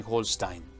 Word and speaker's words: Holstein: Remember that the W in German is pronounced V, and all the E-I are pronounced I. That is to say, it's Schleswig and Holstein.